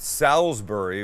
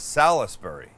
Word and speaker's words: Salisbury: all saying it right it's not salisbury which would be s-a-l-s like b-u-r-y it's s-a-l-i-s salisbury does it matter is anybody carrying do you know that the i is not silent yeah i don't know